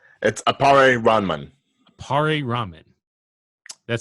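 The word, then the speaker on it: Appare-Ranman: So, anyway, a pair ramen. Am I pronouncing it correctly? No. Okay. It's appare ramen.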